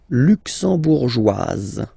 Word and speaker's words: luxembourgeoise: Le Luxembourg, luxembourgeois, luxembourgeois, and then feminine form, luxembourgeoise.